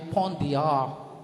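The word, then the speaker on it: Pont des Arts: pangalan ng bridge ay Pon dear Pon dear ponti the arts yon pero silent s nga po sila ' ba Pon De a pagpunta niyo po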